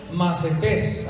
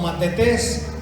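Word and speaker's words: μαθητής: Ahora, la palabra discípulo, la palabra macetés, a ver, digan macetés. En el griego se escribe una T y una H, pero se pronuncia como F, macetés, ¿verdad? Algunos lo pronuncian como matetés.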